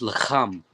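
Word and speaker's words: לחם: Young man, how would you pronounce this word in Hebrew? It's lacham.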